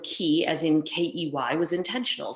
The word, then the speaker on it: Qi: And I decided to call these skills key skills, spelled QI. The fact that it sounds like the word key, as in K-E-Y, was intentional, since these skills certainly represent a key to future success.